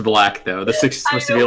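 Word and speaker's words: 6LACK: black first feature on the album that says six lakh Cooper now it's pronounced black though the supposed to be like a curvy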